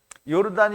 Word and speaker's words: 요르단: 요단은 요르단이 그니까 요단은 그 본래 히브리말 발음으로 하면 요르단인데요. 요르단.